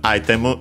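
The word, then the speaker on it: アイテム: because then we have item ghetto of course item get from uh English we check their accents But they should be on. Yes. Item uh on the a on the first syllable ghetto should also be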